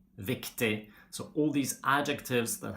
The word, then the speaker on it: viktig: We don't pronounce the G when it's in a combination with I, like for example, billig, riktig, viktig.